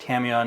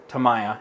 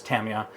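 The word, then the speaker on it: Tamiya: are good also pronounced Tamia not Tamaya it's it's Tamia it's good we know you're right well I went and spoke with some Japanese folks who speak Japanese and this is they're like no this how you say it anyway the best the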